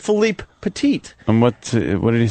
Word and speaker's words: Philippe Petit: Most people say Philip Petit. So I purposely was trying to say his name right, so I said Philippe Petit.